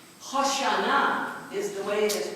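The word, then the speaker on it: Hosanna: we don't say it that way we say hosana hosana is the way it is pronounced and H means Deliver Us save us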